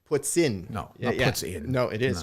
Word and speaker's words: poutine: that's actually a note the proper pronunciation of what you keep referring to as poutine is what's in Putin puts in no yeah no it